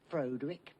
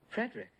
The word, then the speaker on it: Frederick: Frankenstein you're putting me on yeah it's pronounced Frankenstein do you also say Frode Rick No Frederick why isn't it Frode with Frankenstein it isn't